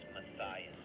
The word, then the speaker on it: Matthias: The spelling doesn't predict how you pronounce it, but it's Matthias.